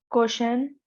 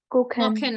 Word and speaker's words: kochen: Koshen. Okay, the first I would say pronunciation that I asked you to guess while having ch was kosher. Ko. So Koken. kochen, very good.